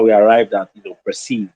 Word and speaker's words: Perseeve: And fortunately, the the merger of those two words then means sorry, sounds like the word perceive, which is the actual pronunciation, right?